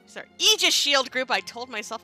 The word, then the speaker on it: aegis: things coming up yeah so got ourselves the aegis sorry aegis shield group i told myself i was going to pronounce it right so we have zyrack beauty